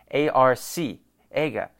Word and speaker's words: Arcega: So maybe I've been pronouncing it wrong this whole time because it's a C, A-R-C, Ega. So why the fuck is it Arcega?